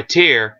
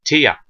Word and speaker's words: Tier: not funny i r people call it t you know was in in by tier like level you know level of something tier three tier four level you know that sort of tier it's not actually Tia TI a TIA hell in English